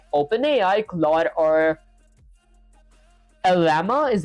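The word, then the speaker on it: Llama: Your game sends the player message to an AI model like open AI, claw or lama is how you pronounce it.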